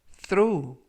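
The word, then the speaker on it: throw: 들어 우 20 스트로우 라고 발음 하시면 되겠고요 이때 ta 쉬는 번데기 발음 끝 그 품사는 동사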